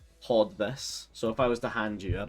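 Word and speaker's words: haud: Hod. H A U L translates to hold. And it has the exact same meaning, just hod, pronounced hod.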